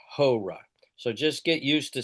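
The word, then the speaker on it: ὥρα: but it's ha and that's the word hour. Okay? And so it's an amocrron row alpha and so it's but it's aspirated. Horra.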